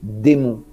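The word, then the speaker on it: Desmont: le toit de Notre-Dame, le nom de cette société s'écrit D-E-S-M-O-N-T. Et ça se lit démon.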